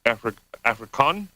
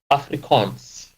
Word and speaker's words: Afrikaans: Anyways, he is also he speaks Afrikaan, I think is how you pronounce it. Afrikaans. Afrikaans, okay.